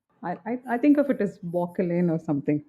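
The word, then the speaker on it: Bauchelain: Yeah, I think it's supposed to be Bockelin. I always read it as Beauchelin. Oh. And I was very surprised with learning it's not actually, it's just pronounced the K.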